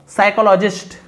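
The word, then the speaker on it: psychologist: This is exactly what साइकोलॉजिस्ट call hedonic adaptation, है ना, यहाँ पे पी साइलेंट होता है।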